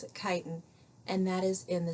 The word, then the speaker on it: chitin: which is that looks like chitin but we pronounce it chitin and that is in the cell walls of